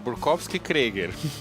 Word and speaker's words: Burkowski Krieger: Porque é Burkowski Krieger. É russo e alemão junto.